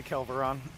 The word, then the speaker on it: Kelveron: Is that how you say it, or is it Kelveron? I say Kelveron.